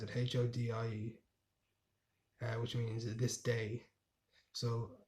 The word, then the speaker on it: hodie: And then Hotel California, Hody. That's how you pronounce it, Hodie, which means this day.